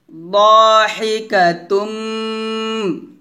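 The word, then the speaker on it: ضاحكة: আবার ইয়াউমা ইযিন মুসফিরাহ দা বলা যাবে না দ বলতে হবে মোটা করে দাহিকাতুম গুণ হবে দাহিকাতুম মুস্তাবশিরাহ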